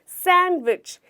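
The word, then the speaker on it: sandwich: इसे क्या कहते हैं, सैंडविच नहीं, इसे हम कहते हैं सैंडविच। यहाँ पे हमारा डी लेटर साइलेंट है।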